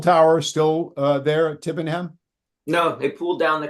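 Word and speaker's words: Tibenham: you you visited tibbenham do I have that pronounced correctly correctly yeah tibbenham yeah I was there uh it's a you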